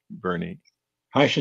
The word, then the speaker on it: Bernie: he and Marsha Sims am I pronouncing your name right Bernie he is fine yes okay perfectly great yeah